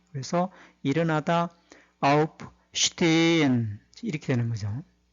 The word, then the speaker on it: aufstehen: aufstehen 이렇게 적습니다. S 뒤에 T가 오면은 S는 슈로 발음이 되죠. 그 다음에 가운데 H는 실제로 발음되지 않고 길게 발음을 해주는 것을 도와줄 뿐입니다. 그래서 일어나다 aufstehen 이렇게 되는 거죠.